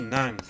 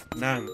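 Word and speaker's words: หนัง: Et film, du coup, ça se dit Nang, Nang, avec un G à la fin, mais qu'on prononce jamais très fortement.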